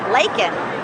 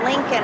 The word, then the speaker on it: Laken: had it right there it's easy to read Laken but he said Lincoln Riley if you if you